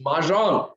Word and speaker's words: Mahjong: It's Mahjong.